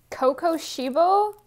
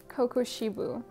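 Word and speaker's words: Kokushibo: This is, okay, Kokoshibo? Kokoshibo? How do I pronounce his name? Kokoshibu.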